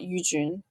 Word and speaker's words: Yujun: But the Jun is a really hard sound in English, so I would suggest just saying Mount Yujun.